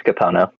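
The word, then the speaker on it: Kapono: Capona, right? I said it right? Yeah, I think you said it right. It's Capono.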